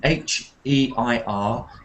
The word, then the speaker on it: heir: This is a homophone. These two words are homophone. H-E-I-R, heir, an heir to the throne, and air in the room, A-I-R. Those are the same sound.